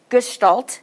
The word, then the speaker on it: Gestalt: Gestalt is how you pronounce it.